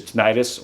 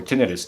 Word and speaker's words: tinnitus: not all of us, have ringing, which is tinnitus or tinnitus, depending on how you say it, right?